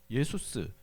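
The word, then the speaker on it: Ἰησοῦς: 이게 히브리어로는 여호수아 예수아인데 그걸 헬라식으로 이름을 발음하면 예수스 이렇게 발음이 되는 거죠.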